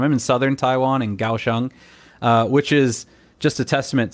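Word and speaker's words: Kaohsiung: when I came here gaoshang is spelled k-a-o-h-s-i-u-n-g uh so even though it's spelled with a K it's pronounced with a G sound and I had no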